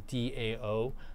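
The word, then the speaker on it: Dão: absolutely worth picking up the Dow is Dao and burrata is Bai ra da both really great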